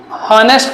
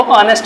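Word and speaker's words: honest: के साथ जाते हैं, बहुत से लोग इसको हॉनेस्ट करके बोलते हैं, तो जब तो इसके साथ में ए का यूज सही है, लेकिन जो इसका प्रोनाउंसिएशन वो हॉनेस्ट नहीं है, वो ऑनेस्ट है।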